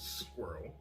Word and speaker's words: squirrel: james course squirrel squirrel the word is squirrel a squirrel it is not a two-syllable word anyways march 14th was